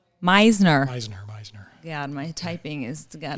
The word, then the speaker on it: Meisner: She's trained in the Meitner. You can tell me how you say it. Meisner.